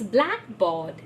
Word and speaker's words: blackboard: need to realize that always the first word in the compound will get the stress so it's blackboard airport so things like that